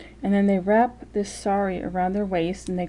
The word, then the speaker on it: sari: they always were those saris and yes s-a-r-i um actually the way i just said it sounds like sorry as in like i am sorry i hurt you as an apology it's spelled s-a-r-i which